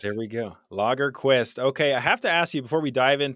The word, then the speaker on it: Lagerquist: having me you're right I always tell people logger Quist is Swedish for the Quest for beer which